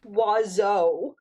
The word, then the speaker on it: oiseau: And two-syllable it's word that uses pronounced oiseau.